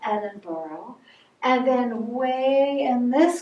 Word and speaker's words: Edinburgh: to look at it you're going to think it says edinburgh but you actually need to pronounce that edinboro and then way in